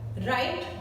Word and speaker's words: write: राइट, WRITE, राइट, W silent है।